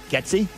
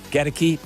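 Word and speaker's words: Goedeke: Getsy? No, Gedeke. It's spelled Godeke. How would you pronounce it? I would say Gedeke.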